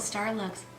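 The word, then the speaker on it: Starlooks: we do have the lucky star looks no it's called star looks mmm I said it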